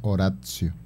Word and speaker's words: oratio: Bueno, oratio se escribe, pero se pronuncia oratio.